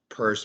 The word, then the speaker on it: Peirce: Commissioner Peirce, it's pronounced Peirce, but it's spelled Pierce.